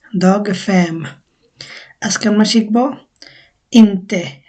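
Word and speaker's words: inte: ইন্তে ইন্তে নট উচ্চারণটা হচ্ছে ইন্তে যে ক্রস না এটা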